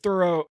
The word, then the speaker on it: Thoreau: Nietzsche um Henry David Thoreau thorough I guess that's how you say yeah that's how you say it but like they were